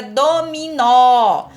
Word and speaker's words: dominó: Por exemplo, na palavra dominó, percebe que tem um acento lá? Nó, tem um acento circunflexo na última sílaba. Então, isso significa que do, mi são sílabas átonas. E o nó é sílaba tônica, porque é a mais forte, é aquela que a gente pronuncia com mais intensidade.